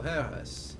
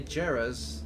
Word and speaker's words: Jerez: year no no oh Jay reads as H okay interesting interesting so Harris okay so yeah it's uh so if you say Jairus that means you are